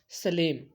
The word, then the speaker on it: Salem: तो देखो कई लोग इसको सलेम भी पढ़ते हैं, हिंदी में इसको सेलम भी पढ़ते हैं। तो सेलम इज़ the real pronunciation.